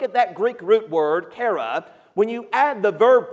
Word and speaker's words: chara: When you look at the Greek root word for joy, we recognize that it is chara. It's spelled C-H-A-R-A.